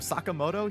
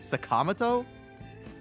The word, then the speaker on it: Sakamoto: Is this how they pronounced it in the first game? Instead of Sakamoto, he's Sakamato.